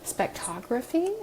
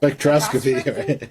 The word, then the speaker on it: spectroscopy: technology to Apple with your expertise in spec spectraphy, is that how you say it? Spectroscopy.